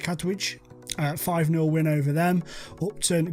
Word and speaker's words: Katwijk: Then Katwijk, I think that's how you say it, Katwijk.